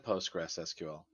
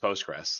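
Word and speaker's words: PostgreSQL: compatible with mysql and postgres sql or sorry postgres we don't we don't usually pronounce the postgres sql it's usually just postgres that's what we refer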